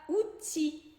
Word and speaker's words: outil: Mas tem, por exemplo, a palavra outil, que é um utensílio, uma ferramenta. Outil acaba com L, mas esse L não é pronunciado.